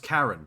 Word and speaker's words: Charon: bro charonus is pronounced Karen with a k as in Karen the chick that I